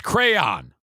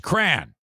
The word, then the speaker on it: crayon: He says it's crayon. No, it's not. It's crayon. That is pronounced crayon.